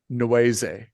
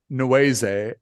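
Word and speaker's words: Nwae: So, for example, one of the characters, Dag, her last name is Noise, and someone at one point asks her, "How do you spell that?" And it's spelled NWA E which is obviously reference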